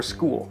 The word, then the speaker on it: school: of a challenge, but sometimes they come right after the letter S, like in the word for school. School. This sound combination is quite common in Dutch.